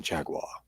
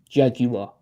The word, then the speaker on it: Jaguar: cars and there's always some Posh English dudes going Jaguar is he yeah it's too syllable but you're saying are you sure that's not for the American audience he's just sort of code switching Maybe but see you guys you guys go three syllables though on average oh yeah big big uh big three-syllable Jaguar he's got a Jaguar